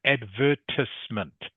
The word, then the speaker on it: advertisement: This word here in English is actually pronounced advertisement. Okay, advertisement. As if the E is not there.